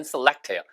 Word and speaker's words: select: 해서 발음이 select 아니고 select. 레 액센트가 있기 때문에 마치 앞이 쓰처럼 들려요. select도 좋아요. 물론 원래 발음은 select예요.